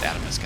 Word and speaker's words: Atomsk: I think he likes it pronounced Atomisk actually.